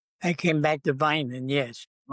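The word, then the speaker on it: Vineland: Navy so you you came back to it's pronounced Vinland right vin Midland, New Jersey. I came back to Vinand. Yes. Vinand.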